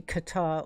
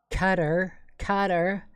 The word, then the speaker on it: Qatar: Now this is obviously Qatar, or Qatar, as the Americans say. Qatar, spelled C-U-D-D-E-R.